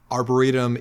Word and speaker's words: arboretum: Arburatum is indeed the correct pronunciation, but Jyn has said to keep in her shame, so there it is.